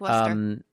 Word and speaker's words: Worcester: pronounce it Leicester, but you just get rid of some vowels and consonants and just say Leicester. It's like Worcester.